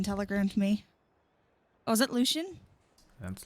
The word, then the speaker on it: Lucien: Oh, is it Lucian? That's Lucien. Oh my god. Luc L Lucien. Lucy. Yeah. Are you saying it's not pronounced Lucian?